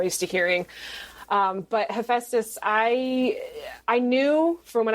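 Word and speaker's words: Hephaestus: refer to him as hesus even though in the book just so people know I do have him called hephestus because that is the more Greek way of pronouncing and spelling his name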